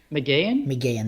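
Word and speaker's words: Mageean: How do you pronounce her last name? Do you know? McGeehan, that's it.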